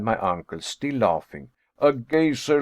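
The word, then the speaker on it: geyser: high above the waters the gazer a word the icelanders pronounce gazer and which signifies Fury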